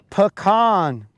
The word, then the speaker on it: pecan: That is totally okay because we will take those strays and we will pronounce it correctly. Arkansas born and Georgia raised. It's pecan.